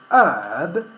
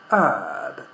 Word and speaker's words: herb: But in the case of herb, we don't have a vowel after that. We have a consonant b. So for that reason, we don't pronounce it. So we say herb.